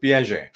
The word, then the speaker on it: Piaget: So John है Piaget. तो ऐसे जिनके Yeah. नाम रहते हैं अजीब अजीब, कुछ लिखा अलग है, pronunciation अलग है.